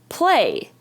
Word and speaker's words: play: Here's another common way to spell the long A sound. It's A-Y, like in the word p-l-a, play.